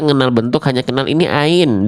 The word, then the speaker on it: ع: Kita ngenal bentuk hanya kenal ini ain, dibacanya a, i, U. Nah, tapi ininya diloncat. Nah, Teman-teman harus pahami. Enggak harus dihafalkan istilahnya, tapi tahu kaidahnya. Ain itu dilafalkan dari tenggorokan bagian tengah. Istilahnya wastul halqi, tapi enggak dihafalkan juga enggak apa-apa.